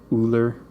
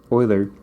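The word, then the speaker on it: Euler: to Oiler that word I know it looks like it should be pronounced ooler or something like that I always have this problem with students um oer is a mathematician who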